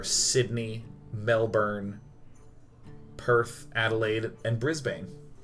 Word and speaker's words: Brisbane: did I nail it it's pronounced brisban it's Brisbane sorry a is pronounced